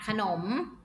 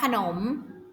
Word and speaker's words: ขนม: นี่ นี่ คือ ขนม ขนม ไทย ไหม คะ อ่าน ออก เสียง เป็น กี่ พยางค์ คะ ขนม อ่ะค่ะ ของ ค่ะ หอ นอ อก มอ หนุ่ม ขนม มี 2 พยางค์ หมอ นำ อะไร คะ